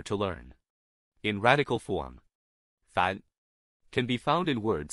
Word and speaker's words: 凡: In today's video, we'll teach you the Chinese character for ordinary pronunciation. Fan.